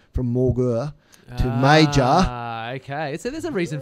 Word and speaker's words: Mauger: But, yeah, the reason it's pronounced major is because during the war, it sounded too German, and we're on the other side, so they changed the pronunciation from Mauger to major.